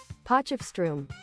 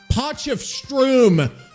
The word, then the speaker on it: Potchefstroom: we go here we go are we ready po of Strom po of Strom here slow slow it down for us PF Strom po of Strom okay so po of Strom I don't know